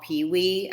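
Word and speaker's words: Pei Wei: it's an asian place it's called pee-wee i'll spell it and pardon me if i'm saying it wrong p-e-i-w-e-i so they have poke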